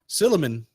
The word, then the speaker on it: Silliman: second place finisher let me know if I'm saying it right silliman you got it yes I got one at